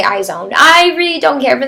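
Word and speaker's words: IZ*ONE: is going to be eyes own that's how you say it in English I think they pronounce it a little bit differently it probably makes more sense when you pronounce it with an accent I'm gonna say I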